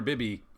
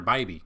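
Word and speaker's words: Bibee: to look at that so I've been calling him Tanner BBY all year not one person has ever uh corrected me found out in the broadcast it's Tanner BBY which makes sense the way it's spelled out here so Tanner BBY going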